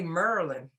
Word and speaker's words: Maryland: pronouncing things too like instead of saying maryland people who are really from will say merlin yeah and there's a